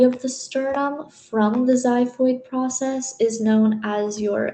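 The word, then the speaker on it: xiphoid: And finally the last portion is your zyphoid process spelled with an X. So it's X I P H O I D.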